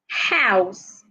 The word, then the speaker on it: house: house hesitate hostile hyperbole house the H must be heard the H is not